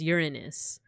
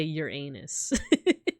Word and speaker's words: Uranus: So the name of the god is Oranos, but then the planet, like the quote-unquote proper pronunciation, is Uranus. But you could also say Uranus.